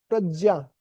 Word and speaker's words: प्रज्ञा: तदस्य हरति प्रज्ञाम, और वो इंद्रियां क्या करती है, मन और जो हमारी प्रज्ञा, प्रकृष्ट पेन जो प्रज्ञा है, सही उच्चारण प्रज्ञा है, तो जो प्रज्ञा है हमारी बुद्धि है उसको क्या करती है, हरती, हर लेती है।